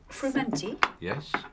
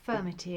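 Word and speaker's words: frumenty: some more of this frumanti is that the right pronunciation yes so tears actually sometimes people call it firmity and it's spelt a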